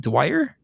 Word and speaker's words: Dwyer: How do you pronounce that? Dwyer.